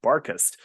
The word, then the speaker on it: Barkhurst: I wrote it as Barkhurst, and I'm pronouncing it Barkust. That's right.